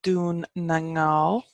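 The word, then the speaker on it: Dún na nGall: goal and a scale get in Irish its doon nang now doing the goal so the alternative irish for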